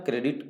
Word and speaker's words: corps: तो NCC का full form correct answer होगा नेशनल कैडेट कोर। कोर का स्पेलिंग लिखते हैं CORPS, बट पढ़ते हैं कोर, इसलिए ध्यान रहे सी वाले से, बाकी सभी गलत हो।